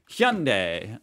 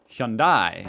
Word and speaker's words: Hyundai: Make it like two syllables, right? Like Hyundai. Australians, three syllables, Hyundai.